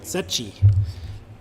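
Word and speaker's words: Secchi: name father angelo okay oh sachi okay i would have said seki but sachi father angelo yeah i'm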